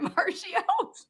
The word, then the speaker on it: Marchio: You have Is it Mario?